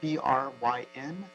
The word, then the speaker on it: Bryn: the next caller caller is it bren b-r-y-n lynn lad apologies for mispronouncing your name if you can please unmute your microphone by pressing star nine or click the unmute microphone there you go is it brim yes that was pretty good pronunciation thanks um hi good morning